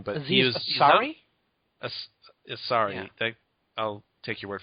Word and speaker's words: Ansari: Ansari.